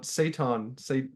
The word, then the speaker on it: Seton: what is the it's a vegan food. It's like a meat substitute. Satan. Yeah. S-E. This is pronounced like that.